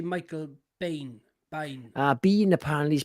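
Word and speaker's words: Biehn: I actually pronounce him as Bien because it's an I, but on interviews he's been known to be Bean, which is like Sean Bean, isn't it?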